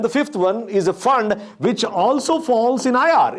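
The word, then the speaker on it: Pfund: we finally have the fund series. The fund series where the P is silent.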